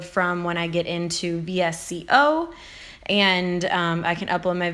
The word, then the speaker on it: VSCO: The next one is VSCO, or Visco is another way that people pronounce it.